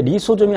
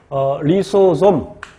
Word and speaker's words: 리소좀: 그리고 이제 리소좀이 하는 역할은 리소가 자르다라는 뜻입니다. 라이소, 집 한번 보세요. 라이소가 커트라는 뜻입니다. 그래서 리소솜, 솜이라고 발음해도 되고 좀이라고 발음해도 되고 좀.